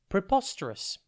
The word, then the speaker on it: preposterous: TV today's word is preposterous it's pronounced PR po Rus and it is spelled p r e p